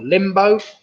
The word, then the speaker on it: limbo: That was the limbo or limbo. That rhymes with bimbo.